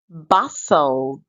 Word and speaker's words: bustled: bravery bravery buled the t is silent bustled drought drought let's proceed